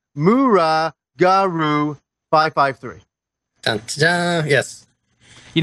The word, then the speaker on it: muragaru553: You pronounce it Mura Garu 553.